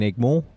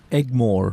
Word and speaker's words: Egmore: Chennai, I grew up in Egmore.